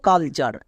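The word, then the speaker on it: culture: ভুল করে যেমন দেখো কালচার এখানে বলতো এখানে ওয়ার্ড প্যাটার্ন কোনটি এখানে টি ইউ আর ই এর উচ্চারণ হয় চার এটি হচ্ছে ওয়ার্ড প্যাটার্ন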